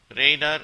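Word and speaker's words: radar: மாதிரி என்று பொருள் 1877 ரைடார் ரைடார் என்று இதை உச்சரிக்க வேண்டும் ரைடார் என்றால் இது ஒரு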